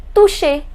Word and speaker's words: toucher: Remember I told you the pronunciation of CH is sh. So it becomes toucher.